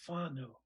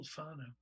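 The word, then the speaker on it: whānau: that they use is whanau wh which is f in maori pronunciation f means family and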